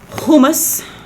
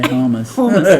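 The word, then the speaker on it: hummus: neck but it's fine and then humus cuz you got to say it like that right well I don't I'm from Texas I say homus and then Ivory and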